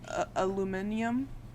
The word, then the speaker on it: aluminium: You know, in England they say aluminium. Aluminium. Aluminium. That's how they pronounce aluminum. Yeah, it's Don't say it with a disgusting.